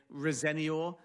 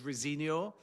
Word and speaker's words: Rosenior: And just one small thing as well because people may be listening and hearing me speak his surname Rosenior whereas perhaps the most commonly pronounced version of it is Rosenor. And I am told by sources close to the new Chelsea boss that that is in fact his preferred pronunciation. So, Rosenior rather than Rosinior.